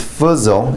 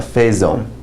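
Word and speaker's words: faisons: eat pho at pho notice this is Fuzzle it's not a phase own new foods own it's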